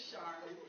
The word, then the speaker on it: Sharmin: with them that, yes, my name is pronounced just as the commercial. Please don't squeeze the Sharmin. However, it is spelled with an S.